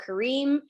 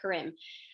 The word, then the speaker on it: Karim: Growing up, I said it Karim. And they said, well, I would look at it Karim and I would say Karim.